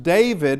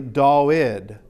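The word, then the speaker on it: Δαυίδ: Yeah, all right, but it's not pronounced David. We do in English because we do have a V, and the Hebrew has a V, and it is pronounced with a V, but the Greeks couldn't pronounce it with the V, so it's actually Dawid.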